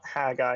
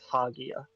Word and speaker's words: Hagia: It's not Haggai, it's Hagia.